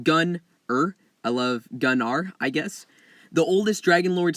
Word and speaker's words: Gunnar: the lore and then we'll talk about it pronounced gun oh I love gun are I guess the oldest Dragonlords still remember the